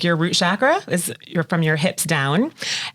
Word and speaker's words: chakra: said it right because I always say chakra but typically technically it's like chakra like chocolate which is what he said